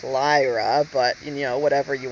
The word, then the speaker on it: Lyra: about Ln um or Lia he says he says you're you guys pronounce it wrong it's Lyra but you know whatever